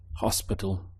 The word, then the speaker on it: hospital: How would you say hospital? Hospital. Hopefully you remembered that the H is silent in Spanish.